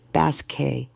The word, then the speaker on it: Basket: Her name is pronounced Basque. She corrected herself quickly, remembering the emphasis.